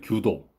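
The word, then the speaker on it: 弓道: 독일이나 일본에서는 이 책이 일본 문화에 대한 베스트셀러 중에 하나가 되었다고 하고 일본의 규도, 이게 이제 궁도인데 이제 일본 발음으로 이제 규도라고 합니다.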